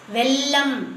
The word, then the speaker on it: வெள்ளம்: உச்சரிப்பு தவறா இருந்தாலும் பரவாில்ல அதை வந்து வெள்ளம் அப்படின்னுதான் சொல்லணும் வெள்ளம் அழுத்தி சொல்லக்கூடாது சரியா வெள்ளம்ல அப்படி எல்லாம் கிடையாது.